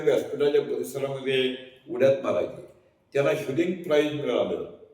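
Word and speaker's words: Hughlings: त्याला ह्युलिंग प्राईज मिळालं. त्याचं स्पेलिंग HUGHLING म्हटल्यावर काही लोक याचा उच्चार हगलिंग कसा करतात हा किस्सा सरांच्या तोंडूनच ऐकण्यासारखा असेल.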